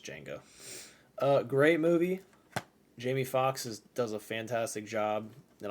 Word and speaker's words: Django: I always say Django, but I think it's pronounced just Django.